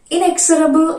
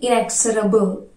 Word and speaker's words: inexorable: Inexorable and formal adjective meaning in this video. We will talk about the pronunciation is tricky. Inexorable and tendency generally have a chance. It is actually inexorable.